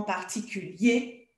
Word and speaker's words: particulier: Oui, là, on prononce hier, mais si c'est au masculin ou quand c'est un adverbe, on va dire en particulier ou particulièrement, en premier, en dernier.